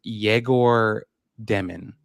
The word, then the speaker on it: Egor Demin: to say his name so he says it's pronounced yeor demon jagor demon I love it because you know what's funny